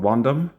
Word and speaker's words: Wondom: And yeah, this is also a pretty affordable board from a company called Wondom. I think that rhymes with condom, and not a great name.